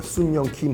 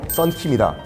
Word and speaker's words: 썬킴: 이걸 지금 마음대로 발음하는 거예요. 순영킴, 순양킴. 아하. 됐고 중간에 영자 빼라. 썬킴이다.